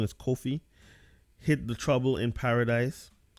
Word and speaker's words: Kofi: rest of the match from the ramp call coffee hit the trouble in Paris in paradise and I said his name wrong is Kofi hit the trouble in paradise this match lasted